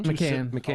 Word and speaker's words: Macan: Even the Porsche, how do you pronounce it? Macan? Macan.